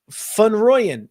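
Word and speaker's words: van Rooyen: in my models Eric fun royan if you want to pronounce it correctly it's more of a fun than a van South African wolf uh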